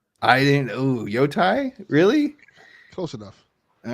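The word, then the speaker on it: Yōtei: It's Yotai. I didn't. Ooh, Yotai?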